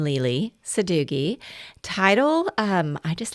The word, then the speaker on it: Lele Sadoughi: U first of all, they want to know how to pronounce my name. So, my name is Lisa, nickname Lely Sadooi.